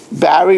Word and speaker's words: Barry: Uh, Barry rhymes with Harry.